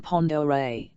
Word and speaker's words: Pend Oreille: Pitt noticed he pronounced the lake's name Pond Oreille.